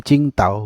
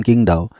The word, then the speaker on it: Qingdao: dibaca T T gitu Jadi cingta bukan bukan kingdaw gitu jadi ketika kita bilang